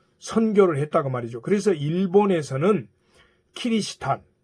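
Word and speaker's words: キリシタン: 그래서 일본에서는 키리스탄, 즉 크리스천이라는 요 영어를 키리스탄 이렇게 발음한 거예요.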